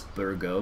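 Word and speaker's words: Bourgo: Tubby says, you pronounce Burgo as Burgo, but he spelt it out here, so it's B-O-U-R-G-O. He's right, that's pretty much how you pronounce it. It's French. If it is French, I should say, that's how you'd pronounce it.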